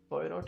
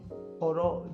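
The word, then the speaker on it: Poirot: पोयरोट जो इनके हैं, उस पोयरोट या पोरो जैसे भी प्रोनाउंस करते हैं, डेथ इन द नाइल इनकी किताब है, और एबीसी ऑफ मर्डर, ये सब इनकी किताबें हैं।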